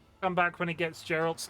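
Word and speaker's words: Geralt: You still got it wrong. Hard G. Gerald.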